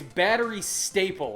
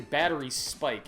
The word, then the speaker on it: Batterystaple: easy thing to pronounce no it's battery staple I keep wanting to say battery Spike it's battery staple games this is their this